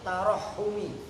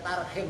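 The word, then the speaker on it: تَرَحُّم: Yang ketiga fungsi daripada naat awit tarahumi. Awas, harokatin tarahum. Kalau bacanya tarhim lagi. Kalau itu nggak menutup kemungkinan kalau yang baca nggak ngerti ilmu sorok mah tarhim.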